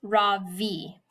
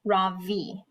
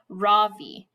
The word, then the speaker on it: Ravi: It's pronounced Ravi with a soft ra and a strong v, Ravi. In Sanskrit, it means the sun. In America, people call me Ravi with the stress on the first syllable.